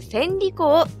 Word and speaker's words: 千里行: は幹線事項です関羽せんりこと読みます千里勇気でも船事業でもありません三国志の武将の